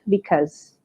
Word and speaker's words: because: Nah, untuk pelafalannya teman-teman, meskipun kata because ini di tengahnya ada huruf U, bukan berarti huruf U-nya dilafalkan ya teman-teman. Jadi kebetulan untuk pelafalannya ini huruf U-nya tidak perlu dilafalkan. Jadi langsung aja because. Oke, dan untuk American dan British mirip-mirip sih pelafalannya. Jadi pokoknya U-nya jangan dilafalkan.